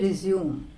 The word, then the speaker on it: resume: When we use it as verb, we say resume.